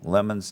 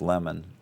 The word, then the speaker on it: Lamon: and that man interviewed lemon's daughter dolly 12 or 13 times and she said emphatically that it was pronounced lemon in the east and of course i